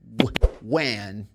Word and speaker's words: when: Don't forget, the H is silent. You say when, why.